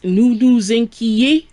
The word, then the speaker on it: nous nous inquiétons: On the other hand, if I want to say we worry with nous, it's nous nous inquiétons. Nous nous inquiétons. So there is a pronunciation difference.